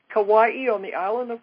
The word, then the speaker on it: Kauai: to be in Hawaii, in, how do you pronounce that? Kauai. Kauai, on the island of Kauai.